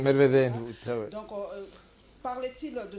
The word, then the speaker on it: Medvedev: Parce que le nom de ce Premier ministre, je ne parviens jamais à le prononcer, Medvedev. Medvedev, très bien.